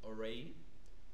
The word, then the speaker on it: oreilles: The ears are called the les oreilles. It's a very tough word to pronounce.